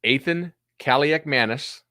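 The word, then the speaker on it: Athan Kaliakmanis: okay it's a twofer it's Athan cak Manis which is how you say it in Minnesota he's Minnesota's quarterback and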